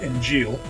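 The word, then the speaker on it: Injil: is called the inil doesn't have a g at the end but yeah pronounced inil oh okay and we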